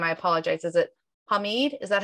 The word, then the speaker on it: Hamid: Is it Hamid? Is that how you say it? Hamid, H is silent. Okay. Hamid.